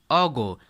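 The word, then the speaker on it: ago: अब यहाँ से देखते हैं अ लॉन्ग टाइम अगो। ध्यान दीजिएगा इसका जो सही प्रोनाउंसिएशन होता है अगो पढ़ते हैं, एगो नहीं बल्कि अगो, ठीक है।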